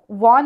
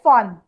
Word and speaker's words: von: अभी दोनों के लिए एक सिर्फ वो वॉन नहीं पढ़ना है, फॉन। ओके हम जर्मन में प्रोनाउंसिएशन वी नहीं करते, फाउ करते, वो लेट अल्फाबेट भी फाउ ऐसे प्रोनाउंस होता है, तो इसलिए फॉन।